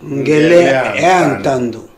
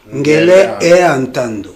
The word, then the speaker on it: Ngele Ntando: Est-ce qu'on a prononcé malam Ngele Ntando? Ngele e Ntando. Ngele e Ntando.